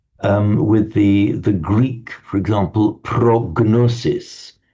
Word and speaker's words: prognosi: It's the Greek prognosis that we use in modern medical terms, medical prognosis. Do you use it in Italian as well, Marco, prognosis, in medical terms? Prognostic. Yeah, but we pronounce it prognosi.